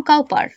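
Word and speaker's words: Cowper: আছে সিক্স এরপর চলে লেসন এই সনেল উইলিয়াম কাউপার বা কপার যেটা বলবে তোমাদের উচ্চারণ যেটা হয় সুবিধা হয় সেভাবে পড়ে রাখবে।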